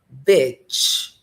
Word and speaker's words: bitch: A primeira é bitch, bitch. Lembra que eu falei daquele som de lick, que é lamber, ao invés de leak, que é vazar,